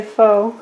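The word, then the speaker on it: pho: characters it's spelled p-h-o so I just say foe I'm not sure exactly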